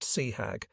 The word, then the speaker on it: CHAG: I have often wondered what might have happened if he had been Chag, Commander Hornet Air Group pronounced Seahag, at the bomb, Battle of Midway.